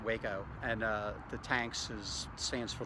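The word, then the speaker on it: Hueco: Waco Tanks is a, and it's spelled H-U-E-C-O, but it's pronounced Waco.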